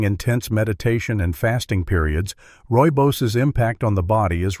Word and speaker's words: rooibos: Few outside dedicated circles of natural wisdom truly appreciate the power of rooibos tea. Originating from South Africa, rooibos, pronounced rooibos, was embraced over centuries by various